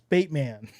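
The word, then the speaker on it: Bateman: It's Baitman. Baitman. Baitman. Baitman. I said it right.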